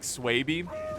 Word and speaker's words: Swaby: back you know why I also like swaby because it rhymes with baby so you go oh